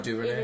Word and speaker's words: DuVernay: Ava DuVernay, or how do you pronounce her Ava name? DuVernay.